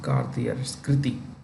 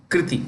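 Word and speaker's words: Krithi: new CEO um no it's not Cartier yeah kriti I'm so sorry guys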